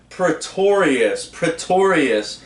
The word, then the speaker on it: Pretorius: Dr. Edward Pretorius, which is very similar to, phonetically it sounds like pretentious, which he is seems like a pretentious a-hole.